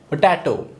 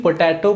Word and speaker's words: potato: आप भी यही प्रोनाउंस करते हो इसे पोटैटो, लेकिन पोटैटो प्रोनाउंसिएशन रॉन्ग है। इसे हम पटेटो कहेंगे। यहाँ पर मैंने दोनों ही लिखा है क्योंकि आपको कन्फ्यूज़न ना हो इसलिए। पोटैटो हम प्रोनाउंस करते हैं लेकिन करना क्या है? पटेटो।